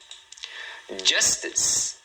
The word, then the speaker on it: justice: Justice. Justice. Tá vendo? Duas sílabas.